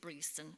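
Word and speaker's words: Breaston: another strange way it's spelled breston but we pronounce it breson okay and that's exactly halfway between Derby and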